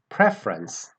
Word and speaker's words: preference: what about the noun it's preference preference the stress comes on the very beginning of the word on the first syllable preference all right we know